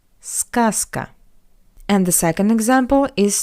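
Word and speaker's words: сказка: That's why we pronounce Z as its voiceless analog S zasa but scaska skaskka z goes to s skaska.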